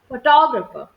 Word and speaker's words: photographer: Photographer. Is this the right pronunciation? No. Photographer. Right. Photographer. Stress. Second part of the syllable.